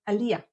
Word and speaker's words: aliyah: if you're pronouncing it Aliyah all you need to do really is shift the syllable stressing to the end and say Aliyah instead of Aliyah Aliyah he made an Aliyah all these examples